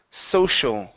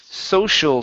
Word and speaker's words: social: And the last one is social. Okay, so we have a regular S into an SH sound. Social studies.